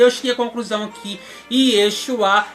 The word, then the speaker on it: Yeshua: cheguei a conclusão aqui Yeshua é a forma correta de se pronunciar o programa Jovem e